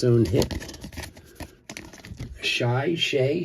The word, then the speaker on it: Shai: Shy. Shay. How do you say his name? Shai, I guess. S H A I. All right. Alexander Shay. That's how you pronounce it. Shay.